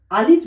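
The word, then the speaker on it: ألف: আলিফ যখন উচ্চারণ করব তখন আমরা খেয়াল রাখব এই ওপরের দাঁতটি এই তলার ঠোঁটের ভিজে অংশের সাথে লেগে উচ্চারণ হবে।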